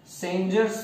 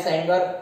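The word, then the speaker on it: Sanger: Was sequenced by using सेंजर्स method, सेंजर्स method. ये एमसीक्यू पूछते कौन सी मेथड यूज करे थे, सो सेंजर या सेंगर क्या बोलना है, देखो सेंजर इज the proper pronunciation, Frederick सेंजर, Frederick सेंजर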